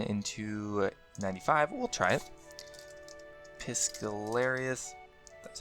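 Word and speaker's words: Piscarilius: Piscalarius.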